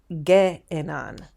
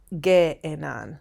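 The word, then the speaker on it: γέενναν: And then let's look at ace, ge'enan, ge'enan. That you pronounce two epsilons separately.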